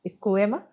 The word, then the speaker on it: القوامة: القوامة، وعمرو قاعد يقول لي دلوقتي، يتخانق معايا ويقول لي بتنطقيها غلط، وهي اسمها القوامة.